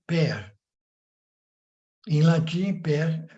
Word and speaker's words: père: A palavra pai em francês é père.